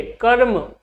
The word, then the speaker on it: कर्म: चलिए, कर्म की बात करें तो इसका जब आप उच्चारण करोगे या लिखोगे तो क और इसके साथ जुड़ा हुआ है क्या, अ। अब देखिए, जब आपने इसको बोला तो जो र का उच्चारण है वो पहले आया कि बाद में? पहले ही आया ना। कहां पर आया? म के पहले, कर्म।